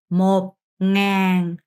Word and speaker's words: một ngàn: một nghìn, một nghìn, một nghìn, một ngàn, một ngàn, một ngàn, một nghìn, một ngàn 이라고 합니다. 응은, 더 편한 발음으로 하시면 돼요.